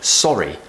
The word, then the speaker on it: sorry: the very important word sorry sorry saw round shape with the map with sorry because an American would say sorry we want the AH to make us sound nice and British now you can just